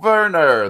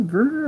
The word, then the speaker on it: Werner: And I also like Werner, the new character. Yes, Werner. Is it Werner or Werner? I think it. Well, I just said it with a German.